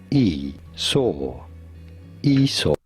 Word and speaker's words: Esau: the book of genesis how do you go by pronouncing his name esau e saw wasn't that nice like